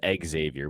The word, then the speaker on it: Xavier: First of all, I could never talk you into pronouncing it correctly. It's Xavier, motherfucker, and you know that.